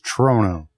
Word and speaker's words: Trono: way out from La how do you say your last name again it's trono trono trono from uh